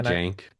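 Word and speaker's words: Cenk: Jenk.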